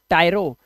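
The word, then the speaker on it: tyro: new learner जो होते हैं स्टूडेंट्स उनको इंग्लिश में एक वर्ड बोलता हूं आज मैं टी वाई आर ओ टायरो टायरो मतलब होता है अ न्यू स्टूडेंट अ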